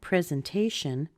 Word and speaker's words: presentation: also be present but in the case of presentation we don't have the luxury of just dropping out that e we have to pronounce it so how do we pronounce this